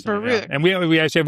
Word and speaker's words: Bierut: But your name is pronounced Bierut. It's Polish. Bierut.